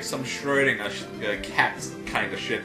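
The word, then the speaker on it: Schrödinger: And yes, that's actually how you're pronouncing Schrodinger's name, yes. It's not Schrodinger. I speak German, so I can correct all of you.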